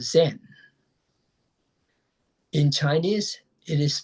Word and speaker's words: Zen: Well, by def definition in Japanese pronunciation, chan is called zen.